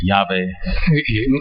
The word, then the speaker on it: Yahweh: del nombre divino, of the divine name, Yahvé, Yahweh. porque he visto muy popular el nombre Jehová Because I've seen the la mayor name parte-